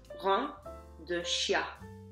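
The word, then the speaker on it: graine de chia: And you pronounce that rein de chia, which is kind of confusing because it says chia, but you don't pronounce it that way.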